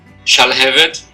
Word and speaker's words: Shalhevet: Shalhevet. Shalhevet. Okay, that's 3 syllables or 1 or 2? Shalhevet. So 3 syllables.